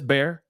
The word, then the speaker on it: Bexar: that's how it says bear that's how it's pronounced my bad sorry about that guys bear it just says back b e x a r you know what I